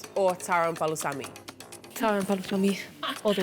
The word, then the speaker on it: palusami: I'd say, yeah, taro and palusami.